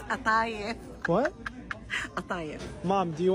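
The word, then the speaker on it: قطايف: It's not kataif, honey. It's atayif.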